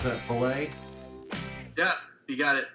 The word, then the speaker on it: Pallais: how do you pronounce that? Pallais? Yeah, you got it. Pallais.